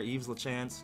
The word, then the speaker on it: Yves Lachance: I'm just gonna go with the French pronunciation of that name there, Yves Lachance.